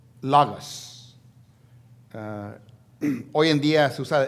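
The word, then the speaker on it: λόγος: Cuando la palabra dice el verbo, en la lengua original es pronunciado logos.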